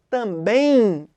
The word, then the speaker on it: também: Quando a gente fala também, você já reparou que sai um I nessa pronúncia? Também. Sai um I nessa pronúncia. Esse é um ditongo nasal, porque se você reparar, o som sai anasalado.